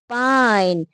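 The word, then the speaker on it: pine: इसी तरह यह इ यहां आ जाता है। इसकी अपनी आवाज खत्म हो जाती क्योंकि आखिर में इंग्लिश का कोई भी वर्ड आखिर में ई का साउंड नहीं देता।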